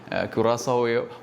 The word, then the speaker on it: Curaçao: ക്യുറാസോ എന്നല്ല മറ്റു പല രീതിയിലുള്ള ഉച്ചാരണങ്ങൾ വരുന്നുണ്ട് മലയാളത്തിൽ. ക്യുറാസോവ എന്ന് നമുക്ക് പറയാം. അക്കിര കുറസോവയല്ല, ക്യുറാസോ എന്നാണ് നമ്മൾ അതിൻ്റെ ശബ്ദം ഗൂഗിളിൽ അടിച്ചു നോക്കുമ്പം കാണുന്നത്.